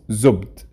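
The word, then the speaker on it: زبد: By the way, in Fusha, it's pronounced zubd.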